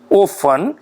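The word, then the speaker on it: often: इसको ऑफन भी पढ़ते हैं। ओ एफ टी इ एन ऑफनन भी पढ़ते हैं अमेरिकन इंग्लिश में। ओके? दो घबरा नहीं जाना। क्या स्पेलिंग है? ओ एफ टी ई एन। हम यहां पर इंडियन इंग्लिश में कई बार टी साइलेंट बोल देते हैं तो ऑफन बोल देते हैं। ठीक है? और ये ऑफन भी है और ऑफन भी है। दोनों ठीक है।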